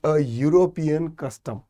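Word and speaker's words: European: नाही एक्सेपशन आहे कारण याचा जो उच्चार आहे तो युरो य य पासून होतो युनिव्हर्सिटी सारखा ठीक इथेन येणार नाही इथे काय येईल युरोपियनस युरोपियन कस्टम ठीक त्याचा प्रोनन्सशन य पासून सुरू होतो स्पेलिंग वरती जर पाहिलं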